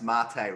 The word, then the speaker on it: Matej: that's awesome and i understand your name is pronounced mate right so it's that right is that how